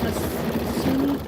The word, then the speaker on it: Asuli: Am I saying that correctly? Asuli? Ms. Yes, I said it right. Asuli.